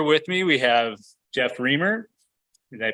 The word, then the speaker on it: Reimer: Here with me, we have Jeff Reimer. Did I pronounce that right? Reimer.